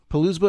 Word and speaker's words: Poulsbo: It's called Palousba, I think is the name. Yeah. It's on Liberty Bay, and if you look at pictures, it's spelled Poulsbo, and if you look